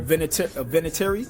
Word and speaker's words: Vinatieri: I keep fucking pronouncing his name incorrectly. The kicker? Vinatieri.